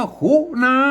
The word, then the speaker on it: ขุณณา: คู้ ต่อ หน้า มี ไม่ กล้า อ่าน ว่า คุนา แล้ว ก็ มา ก็ อ่าน ว่า คุนะ แล้ว